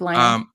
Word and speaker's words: Laine: Patrick Laine. Pardon me? Your pronunciation is on point today.